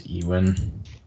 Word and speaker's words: Ewan: head do you know inter Al famous actor Yan McGregor yeah I've only heard it as euan it's Yan it's Scottish no no I know